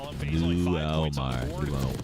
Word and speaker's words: Mulmar: Shouts out from the DMV, pronounced Mulmar.